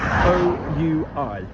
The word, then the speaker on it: oui: Don't be worrying about the pronunciation of the word west with an OU. How have you been saying the word yes for months? O-U-I, oui, like a W. So the west is l'ouest. Yep.